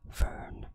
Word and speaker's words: Fern: It would be a little bit weird to pronounce my name in a different way than in English, right? So it's Fern the human plant.